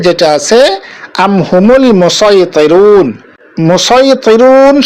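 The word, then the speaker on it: مصيطرون: মুসাইতিরুন শব্দটির মধ্যে আমরা সদ উচ্চারণ করে পড়ব।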